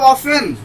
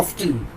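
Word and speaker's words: often: এটা হচ্ছে অফেনও উচ্চারণ করা হয়, হাউ অফেন এটা হচ্ছে আমেরিকাতে, হাউ অফটেন এটা উচ্চারণ করা হয় ব্রিটিশে।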